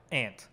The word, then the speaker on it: aunt: I pronounce like ant. Ant. Like yeah. A bug. Yeah. Say like ant.